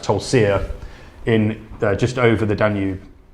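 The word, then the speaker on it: Tulcea: place, and excuse my, I think it's pronounced Tolsia, in just over the Danube in Romania.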